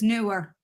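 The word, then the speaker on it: Neewer: me and said it's newer okay wait Neymar is it knee like your knee like your kneecaps or is it new like opposite of old like a new purchase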